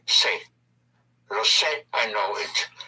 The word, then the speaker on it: sé: Instead of sabo, you just say, se.